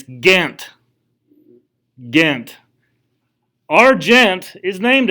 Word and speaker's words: Ghent: gentle booth you know so it's actually treaty of ghent so just when you leave when you leave here and you're in a place with people not from southern west virginia please don't say gent when you're giant when you're talking about the treaty of ghent okay i don't know why